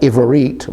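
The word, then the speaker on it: עברית: And so we've gone over this word called Ivarit, meaning Hebrew, before, but let's look at it again using the Yud.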